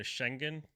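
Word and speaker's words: Şengün: people say Shengun. That's kind of how everyone in the media says it. I've heard some people say the real pronunciation is closer to Schengen, but I just say Yeah, I'll Shengun.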